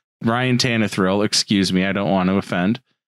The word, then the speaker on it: Tannehill: You mispronounced his name. Ryan Tannehill.